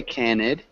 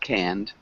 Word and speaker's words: canned: goods yeah just remember when we say canned it looks like that so it looks like canned so we wouldn't say cannid just canned canned okay yeah but good um